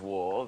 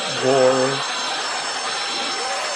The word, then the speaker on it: Waugh: What if they were to send the prisoners of war very long socks and concealed inside of the socks are big files to...